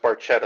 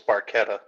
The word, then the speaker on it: barchetta: Is that if there wasn't an H after the C it would be pronounced Barchetta. I got to go. I got to help with the kids. the C makes the C hard so it's Barchetta.